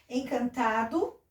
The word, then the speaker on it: Encantado: Encantado, ó, termina com O, parece que nós pronunciamos com U.